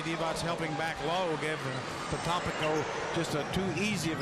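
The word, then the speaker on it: Potapenko: Well, he used to pronounce his name Potapinko. Yes, he did. I could pronounce that, and then he changed it.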